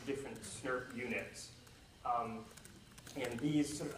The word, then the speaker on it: snRNP: Each of these complexes is called an SNRNP, which people often pronounce SNRP.